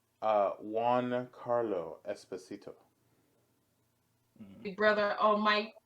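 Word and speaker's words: Giancarlo Esposito: no, now that I know how to say his name, Mm, it's Juan Carlo Esposito.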